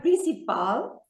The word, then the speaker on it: principal: main dish all right the word principal is emphasized on the last syllable because it ends with an end if you remember